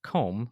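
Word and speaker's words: Côme: it is co and pronounced comb like comb your hair which is just a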